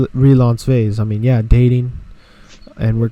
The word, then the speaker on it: Relansové: So I came, and obviously it sounds like fiance. You know, it sounds like this is my fiance or my fiance. You know, some people pronounce it like that. I don't know. But I put relationship, RELA, the first four words of relationship, and fiance, the rhyming of that word together. And I made it sound fancy.